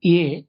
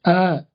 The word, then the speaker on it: a: நம்ம தமிழ்ல வந்து லெட்டரா நம்ம படிக்கும்போது ஏ அப்படின்னு படிப்போம். இதை வந்து நீங்க ஆங்கில வாக்கியத்தில் அமைச்சு பேசும்போது அ அப்படிங்கிறது, சரிங்களா? அ புக், அ கார், அ ஹவுஸ், சரிங்களா? ஸோ அந்த மாதிரி அ அப்படின்னு தான் நம்ம ப்ரொனவுன்ஸ் பண்ணணும்.